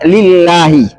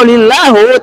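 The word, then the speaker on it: لله: kata yang dimasuki ah makanya harusnya lillahi tapi kalau lillahu tidak merusa maknanya cuma merusak fungsi daripada pemberian harakat kasar itu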